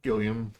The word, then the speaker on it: Gilliam: I would say that that's pronounced like William, but with a G. Gilliam.